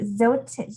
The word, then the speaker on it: Zote: So you pronounce the E, Zote.